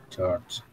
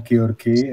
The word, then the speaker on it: George: Nah, bertemu meet mit dengan ini adalah with with George. Oh, ya. Ini kenapa saya bilangnya George bukan Georgi. Ini spelling yang bahasa Inggris kayak gitu soalnya. Kalau orang Indo bacanya Georgi.